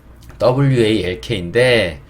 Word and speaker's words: walk: 자, 이번에 WALK인데 W는 우 소리가 나요. 우. 그 다음에 A는 어 소리가 납니다. 그리고 여기 있는 이 L은 또 묵음이에요. K는 키읔 소리가 납니다. 그래서 WA 여기를 잡아서 어차피 얘는 묵음이니까 여기에 우어가 합쳐지니까 워가 되고요. K는 이렇게 나게 오겠죠. 크 소리. 그래서 walk, walk가 되고요.